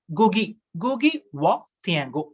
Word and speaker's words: Ngũgĩ wa Thiong'o: Ngũgĩ wa Thiong'o, pronunciation N is silent, N G-U-G-I, N is silent, Ngũgĩ wa Thiong'o.